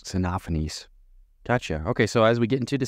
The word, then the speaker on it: Xenophanes: So it's spelled Xenophanes. Xenophanes. Xenophanes.